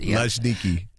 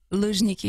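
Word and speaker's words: Luzhniki: It's not necessary for you to try to pronounce it. Ljniki. Ljniki. Ljniki.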